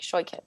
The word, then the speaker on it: Shoichet: least once sh I I like to tell people it's sort of like it sort of like it rhymes with with toy kit like if you had a kit full of toys like shy kit it yeah there